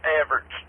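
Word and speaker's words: Evarts: Yeah, the projected path is Harlan and Everett. Hey, Emmett. Go ahead. Correct pronunciation, Everett.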